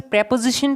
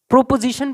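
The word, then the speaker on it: preposition: Okay, क्या है हमें यूज करना है, subject plus verb plus प्रेपोजिशन plus object plus other word plus full stop. कईयों तो इसको प्रेपोजिशन पढ़ते हैं, क्या प्रोपोजिशन पढ़ते हैं, तो ये इसका करेक्ट प्रोनाउंसिएशन क्या है, प्रेपोजिशन।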